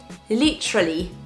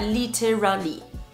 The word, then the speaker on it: literally: mots préférés en anglais litally Lally l like that Lally litally et pas literally Lally litally encore une fois